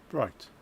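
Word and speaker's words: Breitling: Now I'm wondering where I can just um height I'll pronounce as in height bright brightling H phonetically I think brightling.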